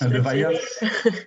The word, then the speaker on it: Levaillant: First of all, Madame le Docteur Levaillant, je pense que c'est comment doit prononcer votre nom, peut-être? Yes, Levaillant.